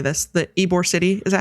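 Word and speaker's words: Ybor City: So, before Tampa and I don't know how to say this, the Eore City, is that how you say it? Eore City in Tampa.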